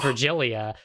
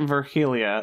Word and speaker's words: Virgilia: Okay, I was pronouncing it Virgilia, like an H sound for the G. That's not right? No, It's I think Virgilia. it's like after Virgil, you know, the Aeneid and all that.